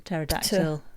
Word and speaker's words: pterodactyl: Silent P as in pterodactyl.